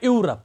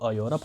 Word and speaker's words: Europe: इसी तरह EUROPE, इसको कोई पढ़ता है यूरोप, तो फिर भी वो अलिफ से नहीं निकल आएगा, वो तो आइन से, क्योंकि इसकी असल में जो प्रोनाउंसिएशन है वो यूरोप है, ये से शुरू होता है, तो ये से ये भी शुरू होता है।